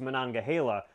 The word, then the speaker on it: Monongahela: i learned that the most common way people pronounce it is monongahela i probably should have known that considering i